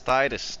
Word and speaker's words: Titus: It's not Tinus, it's Titus.